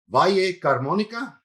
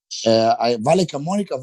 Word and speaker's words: Valle Camonica: You're from somewhere called Valle Carmonica. Is that right? Is that the town? No, Valle. How do you say where you're from? Where'd you grow up? Valle Camonica Valley.